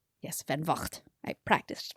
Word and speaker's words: Van Vogt: Van Vogt. Yes, Van Vogt. I practiced pronunciation.